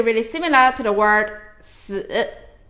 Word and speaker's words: 死: Now, 4 in Chinese, we pronounce it as 四, 四, 四. It sounds really, really similar to the word 死, 死.